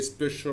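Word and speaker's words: special: اي بيتنطق كانه اس لكن في الكلمات دي حرف السي جاي بعده حرف الاي ومنطقه كانها ش كانها اس اتش يعني كانها ش زي اس اتش بالانجلش ليه الكلمات دي تتنطق كده زي سبيشال وسوشيال وكوميرشال واسشال وبعض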